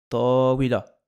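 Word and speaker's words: طاولة: Si le premier terme de l'annexion porte une tarmabuta, la tarmabuta sera prononcée, même si on choisit de ne pas prononcer les voyelles finales. Par exemple ici, tawila. Donc là on ne prononce pas. On se rappelle, avant de tarmabuta, la lettre qui précède porte un fatha. Ça fait tawila. Tawila.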